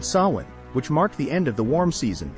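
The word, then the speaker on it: Samhain: ghost busting the Celtic Festival of Sinn Sinn often pronounced sa in was a big deal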